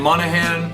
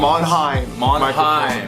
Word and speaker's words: Monheim: We're here Monday live from 6816 Sunset Boulevard, home of Andromeda Recordings and Monahan Microphone. Monheim. Say it correctly.